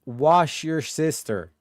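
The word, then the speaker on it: Worcester: He says it's pronounced wash your sister. Is that not what I said? Warchester.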